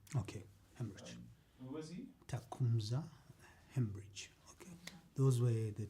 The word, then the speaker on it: Tecumseh: Tecumseh. Hemorrhage. Okay. Those were the two pronunciations I wanted Yeah, to so get it's corrected.